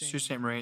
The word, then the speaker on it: Sault Ste. Marie: Sault Sault Ste. Marie. It's spelled SAULT. Salt with a U. Sault Ste. Marie? Sault Ste. Marie, but it's Sioux. It's That's French. right. It's French.